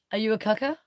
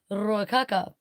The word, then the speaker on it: Ruakaka: Are you a kaka?